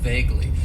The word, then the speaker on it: vaguely: and that is vaguely it has two syllables and the stress is on that first syllable vaguely and vaguely means that